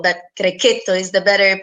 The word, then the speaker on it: Grechetto: Grechetto as people are used to call, but Grechetto is the better pronunciation, and the Sagrantino di Montefalco, our king wine.